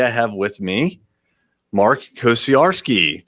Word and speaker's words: Kosieradzki: And today I have with me Mark Kosieradzki. Did I say it correctly? Pretty close. It's Kosieradzki.